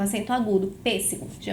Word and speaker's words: pêssego: Se eu sei que a minha antepenúltima sílaba é mais forte, eu sei que eu estou diante de uma proparoxítona.